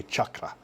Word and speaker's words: chakra: The correct pronunciation is chakra. So it's CH, it's a ch sound, as in cheese. It's not an SH sound.